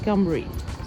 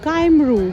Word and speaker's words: Cymru: welsh language is called cumric so cymru is pronounced as cumbrie so whales in welsh is called campbell and i was pronouncing it since morning was kymeru time rule but apparently it's pronounced as some